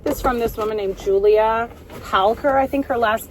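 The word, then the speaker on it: Giulia: won't link it but it's Julia spelled with a g and an it's like g i u l i a helker she's on YouTube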